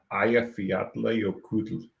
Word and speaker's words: Eyjafjallajökull: So a piece of trivia, I actually know how to pronounce that. Eyjafjallajökull.